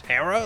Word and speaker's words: Hera: although I do know some of you would like to pronounce her name is era but I swear always in the show was Hera like the H is definitely pronounced so I don't know